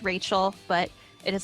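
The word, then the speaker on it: Raechel: I tell people what my name is they will immediately try to write it down how rachel is normally spelled so when I have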